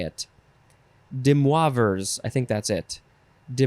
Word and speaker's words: De Moivre's: The next word is De Moivre's theorem. De Moivre's theorem, or Demoivre's. That seems like the better way to say it. De Moivre's, I think that's it.